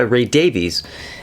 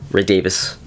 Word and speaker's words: Davies: Now, this was produced by Ray Davies, and Ray Davis, to all you people who know how to pronounce it properly, but Ray Davies.